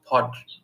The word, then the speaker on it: Podgorica: Wait, you're forgetting a syllable. It's Podgorica.